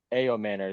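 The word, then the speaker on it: Ayomanor: I got uh uh Elic A Manor, the guy from Stanford. Y spell that.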